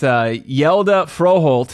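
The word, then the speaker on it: Hjalte Frøholt: I'm gonna let you pronounce this young man's name. All right. That's Hjalte Froholt.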